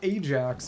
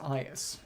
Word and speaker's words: Aias: It's not Ajax, it's pronounced Aias.